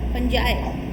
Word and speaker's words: fungi: फंजाई. फंजाई FUNGI. देखो pronunciation बहुत बड़ा इशू नहीं है, लेकिन हाँ